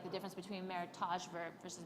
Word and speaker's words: meritage: like the difference between meritage verb versus meritash well meritage is how you pronounce it not meritage because it's a merriment of two heritages and so she had